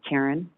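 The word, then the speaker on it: Carren: first name is spelled c-a-r-r-e-n it's karen my middle name is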